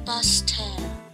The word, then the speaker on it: Basse-Terre: Bust hair. A bust hair. It is French.